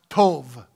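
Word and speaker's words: טוב: that surely goodness goodness the word goodness in the hebrew is pronounced tov it means to be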